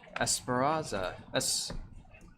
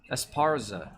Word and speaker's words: Esparza: Esparazza. Esparza. I added an extra syllable.